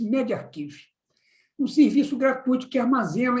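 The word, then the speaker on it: medRxiv: No final de agosto, o estudo foi publicado em MedArchive, pronuncia-se MedArchive, um serviço gratuito que armazena estudos médicos que ainda não passaram por revisão por pares.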